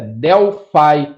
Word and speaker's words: Delphi: escutar a pronúncia e a pronúncia correta é delfie e significa Delfos mas